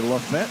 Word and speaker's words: Lafayette: Lafayette, Tennessee or Lafette, Tennessee is how they pronounce it there.